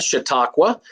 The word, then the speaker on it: Chautauqua: That's how you pronounce that, Chautauqua, cinema, Crystal Lake, and the NFL.